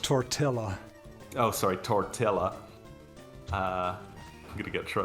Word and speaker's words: tortilla: It's pronounced tortilla.